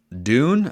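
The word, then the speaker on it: Dunne: the ducks in 2023 Luke Dune I think is how it's pronounced d-u-n-n-e he's a punter he's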